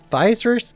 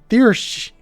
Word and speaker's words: Thysers: Thysers is pronounced thirsch.